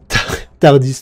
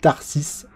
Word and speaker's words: Tarsis: Tardis, non, ça c'est dans Doctor Who. Tarsis. Là, c'est un peu mieux prononcé.